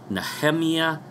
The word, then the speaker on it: Nehemia: Yehovah, based on this new so-called research from NahamYAH Gordon. That's how he pronounces his name.